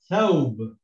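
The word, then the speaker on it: ثوب: It's got a silent sign, so it's thaw, thaw. It's not wa, it's not we, it's not woo, it's just thaw. Okay, and this is also silent, so we read this as thawb, thawb.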